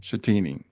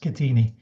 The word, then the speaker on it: Schettini: So with that like to welcome Shatini. Thank you Brian. Thanks for that introduction. Very generous. Uh yeah it's pronounced everyone gets this wrong but it's actually pronounced Katini.